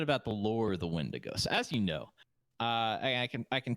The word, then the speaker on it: Wendigo: The Wendigo who? The Windigo.